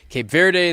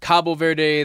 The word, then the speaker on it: Cape Verde: And we were sitting here talking about why are there so many ways to pronounce? There's Cape Verde, there's Cabo Verde, there's Cape Verde, Cabo, it goes on and on and on.